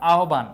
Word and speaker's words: আহ্বান: আরেকটা বোঝানোর চেষ্টা করেছিলাম আহ্বান এই জায়গায় হ এর সাথে ব যুক্তবর্ণ আকারে আছে এইজন্য ভ এর মত উচ্চারণটা হচ্ছে ভ এর মত উচ্চারণটা